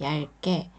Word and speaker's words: 얇게: 여기서는 리을 받침만 소리가 납니다. 비읍은 소리가 안 나요. 그래서 얇게 라고 읽는데 기억이 쌍기역 발음으로 소리가 나죠.